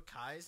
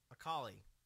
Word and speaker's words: Akali: There's actually 2 Akais in this game. Is that Akai? Akali. Same thing. I just mispronounce it. No, that's not true. Sort of like Well, the L looks like an I Katrina.